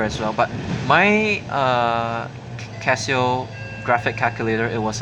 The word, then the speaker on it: Casio: one but but but since Casio is Japanese I think I'm supposed to pronounce it Casio instead Casio so yeah I use